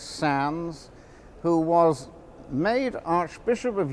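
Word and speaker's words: Sandys: Margaret clithero Edwin sounds sa n dys pronounced sans who was made Archbishop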